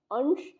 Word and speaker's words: अंश: अंश यानी कि जिसमें तालव्य श है, उसका अर्थ होता है हिस्सा।